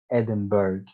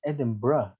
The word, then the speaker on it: Edinburgh: again you know uh pronounced this word as edinburgh right even saying even when you say edinburgh the h sound is still silent but uh the correct way of pronouncing this word is edinburgh edinburgh i mean the u r g h sound is completely gone and it is replaced